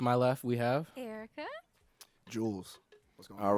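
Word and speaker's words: Juelz: like that they were like bro you don't spell it j-e-w-l-z I was like what Jules but the governor names I'll put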